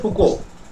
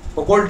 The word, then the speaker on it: Foucault: ঠিক আছে, হ্যাঁ মাইকেল মিশেল, ঠিক আছে, ফ্রান্স প্রাসিলো, ঠিক আছে, ওনার বিরাট বড় নাম পল মিশেল ফুকো, ফুকোল্ট নয় উচ্চারণ, ফুকো, ঠিক আছে, উচ্চারণ হচ্ছে ফুকো।